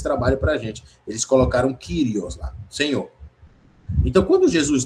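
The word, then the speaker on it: κύριος: Porque senhor é uma palavrinha grega chamada kirios, que ela que tá aqui o o trecho grego é essa esse pedacinho aqui. Curio, curio, tá vendo? Pronuncia Krios. Kirios.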